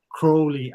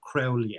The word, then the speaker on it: Crowley: aleister crowley famously proclaimed it's it's crowley as in holy not crowley as in feli you know correcting people